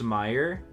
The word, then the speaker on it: Mayer: so something interesting about Oscar Meyer oh it's pronounced Meyer but it's spelled like May m a ye